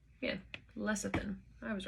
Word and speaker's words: lecithin: out the pronunciation of that really quick lecithin pronunciation yeah lecithin i was right lecithin connects the minuscule amount